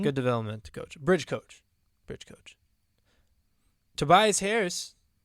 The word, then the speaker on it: Tobias Harris: Tobias Harris. Did I say his name right? Yeah. Yes, you did.